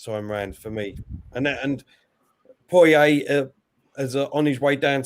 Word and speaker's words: Poirier: And Poirier is on his way down to the octagon now.